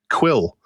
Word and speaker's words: Kwyll: the choosing of the name Quill, which is spelled Kwyll.